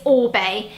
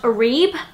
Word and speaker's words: Orbe: with this year is Orbe. It looks like it should be pronounced Orebe, which is what I called it before I found out that isn't actually how you say it.